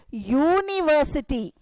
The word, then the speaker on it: university: But I'm not pronouncing it as a. Umbrella, a. So, vowels pronounce that a, u, e. This production of sounds comes for the vowels. But here, I'm pronouncing it as university. See, students, I'm pronouncing with Y.